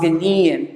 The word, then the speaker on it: Ghanaian: it's from madagascar somewhere from ghana is a ghanaian see you don't take out the eight a i a n it's pronounced ghanian someone from nigeria it's a nigerian someone from